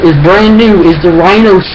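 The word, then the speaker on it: RYNO: The only weapon that I believe is brand new is the Rhino 7.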